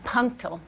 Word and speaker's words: punctal: Punctal. P-U-N. TCA, punctal. God, don't make me spell it.